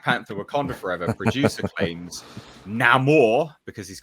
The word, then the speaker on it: Namor: ladies and gents, where he says his name and he says it the Latin way. That's right, Paulie? Namor. That's how you would pronunciate it if you were Spanish.